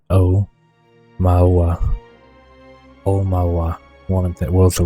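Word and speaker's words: Aumaua: armor no quebe Ohama it's pronounced o mawa one of the world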